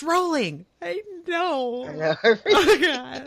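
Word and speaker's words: Rowling: 12 people being like, "It's pronounced rolling."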